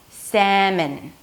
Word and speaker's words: salmon: The second syllable has an M sound, a schwa, so there is no O, and an N. So it's not 'mon', it's m'n, m'n. seh-m'n, seh-m'n, The /seh/ is the primary stress so it's going to be higher in pitch.